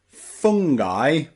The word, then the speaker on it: fungi: for now remember that some words in English that end in i can have that I pronunciation so practice with me hi and and fungi and Alibi Alibi okay there's some strange